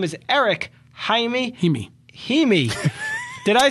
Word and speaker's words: Jaime: Well, it's the I as in the Spanish pronunciation, like Paris, Imi. Just think dreamy Himi.